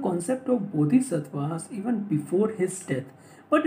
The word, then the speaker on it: Bodhisattva: No Sanskrit means है इसका बोधिसत्व, that is a word का जो pronunciation that is अ बोधिसत्वास, और इसका जो पाली और द सिंपलेस्ट फॉर्म है उसमें इसका प्रोनाउंसिएशन है बोधिसत्ता.